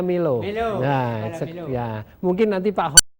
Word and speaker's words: MULO: tamilo ya iya ya Milo ya tulisannya mulut Tapi bacanya Milo Setia mungkin nanti pak